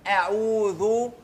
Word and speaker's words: اعوذ: يبقى دايما اعوذ، والذال بتاعت اعوذ بطلع فيها لساني، ثلاث حروف بطلع فيهم لساني، الذال والثاء والظاء.